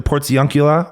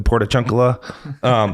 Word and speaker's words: Portiuncula: So either the port, I hear the Portiuncula, or some people will say, and Father Dave might say, the Portachuncula.